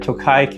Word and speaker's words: Tokaji: He's also the one that told me it's pronounced Tokaji, so if that's wrong, come for your Rishi.